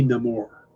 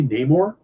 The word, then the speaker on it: Namor: who's playing Prince Neymar pronounces his name Namor he says very clearly my enemies call me no more and that's not how most people say the name I think most comic fans and stuff say Namor so okay and this